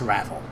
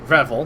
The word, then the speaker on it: Revel: yes, the bar is called the Rancorous Ravel. Can you spell that out for me? God damn it. I also meant to say Revel, not Ravel, but eh.